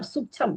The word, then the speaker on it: सूक्ष्म: सूक्ष्म सूक्ष्म होता है हिंदी बोलना सीखो शब्दों को गलत मत बोलो सूक्ष्म होता है सूक्ष्म सूक्ष्म सूक्षम विधालय विधालय विधालय पता नहीं कहां से गलत उच्चारण सूक्ष्म जीव है ना सूक्ष्म जी सूक्ष्म नहीं सूक्ष्म जब आप बोल रहे हो तो क्या हो रहा है जो बीच का क्ष है वो पूरा हो जा रहा है वहां पर उसमें